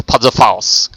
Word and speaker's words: Panzerfaust: Okay, that's how you pronounce Panzerfaust.